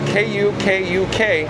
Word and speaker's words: Kukuk: Oh, and Jacob, last name spelled K-U-K-U-K, Jacob. Kukuk, I believe is the way you pronounce it.